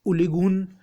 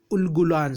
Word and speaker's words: उलगुलान: और एक एक उलिगुन उलगुलान, सॉरी मैं थोड़ा सा इसका प्रोनाउंसिएशन में थोड़ा सा गलती हुआ।